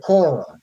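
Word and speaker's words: Akora: They call themselves uh well, the ship is called the Aora.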